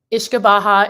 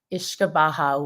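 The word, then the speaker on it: uisce beatha: I'm not the best always with the gaic pronunciations but ish kabaha is the name of the distillate they were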